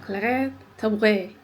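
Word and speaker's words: Claire Tabouret: E tabii o Fransız olduğu için şu şekilde okunuyor. Claire tabure. Tabur yani böyle boğazdan gelen bir yumuşak g kıvamında tabe.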